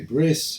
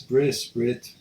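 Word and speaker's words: ברית: And obviously, if you're more accustomed to Ashkenazi pronunciation, so we say bris, brit, same thing.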